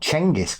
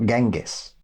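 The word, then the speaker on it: Genghis: But no, he's called Changis Khan. That's how we pronounce his name. Changis, not Gangis.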